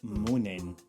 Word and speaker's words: mon'en: of the word come, we forget the start of the word then, the E at the end of come isn't pronounced anyway, and we're left with mon'en.